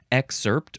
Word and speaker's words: excerpt: is the noun excerpt this is the one that I pronounce with a emphasis on the first syllable excerpt or exerpt second form